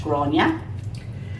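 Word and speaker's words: Gráinne: remember it but anyway it's pronounced gronia and um i hope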